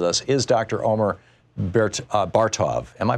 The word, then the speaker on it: Bartov: Omer Bert's Bar Tov am i pronouncing your name right sir both of it